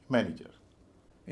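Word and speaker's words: manager: का शब्द बन जाएगा इसमें भी पहला सिलेबल भारी बाकी हल्के हो जाएंगे उच्चारण होगा मैन इज अ हर मैन इज अ मैनेजर इन दो उदाहरणों से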